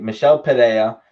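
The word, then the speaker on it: Michel Pereira: you know Mikkel Michele Michele today I think Michele Padilla it's how you pronounce his name he basically he basically was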